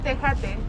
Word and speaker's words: tejate: Pronounce it? Tejate.